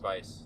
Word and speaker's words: Weisz: Well, she's English, but the name Weisz is German.